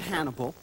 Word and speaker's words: Hannibal: I mean it's cot Hannibal that rhymes with cannibal it's the sequel to